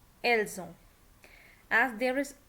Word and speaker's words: elles ont: Okay, the verb avoir, note that s of the subject pronoun nous, vous, ils, elles is pronounced as an English z in the phrase nous avons, vous avez, ils ont, elles ont. So that's what I told you, because there is a vowel after s, so we will pronounce it as z.